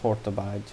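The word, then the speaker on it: Hortobágy: the two main again uh it's pronounced hortabide but uh besides very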